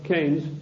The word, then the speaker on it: Keynes: or keynes he said Keynes was a better word because it arrived with rhymes with brains and this is a